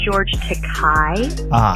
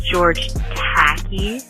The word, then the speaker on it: George Takei: Also, it's pronounced George Takei. It's not George Tacky, like you said.